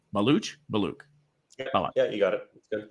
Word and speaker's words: Baluch: Always fear that I'm saying your last name wrong. Belaluch.